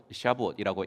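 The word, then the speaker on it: שבועות: 받았다고 믿고 이제 맥추절을 그들의 발음 지금 발음으로 한번 시아부어라고 이야기하는데이 맥주절 아침에 어느 성경을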